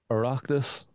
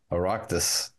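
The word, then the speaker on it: Oireachtas: Aractus. Aractus.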